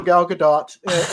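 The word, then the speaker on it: Gal Gadot: please eat that Apple I am all for galgadot is how you pronounce it by way I'm like I'm totally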